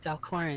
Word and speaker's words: Dalcorin: Does anyone know what Dalcorin is? It's. I'm Torin. It rhymes. Dalcorin.